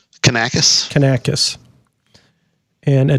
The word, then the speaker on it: Kanakos: Kanaka how do you say your last name can a kiss can a kiss and a dill how do